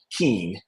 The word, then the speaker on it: Kuehn: my last name because nobody ever gets it right um which is Keen um don't ask me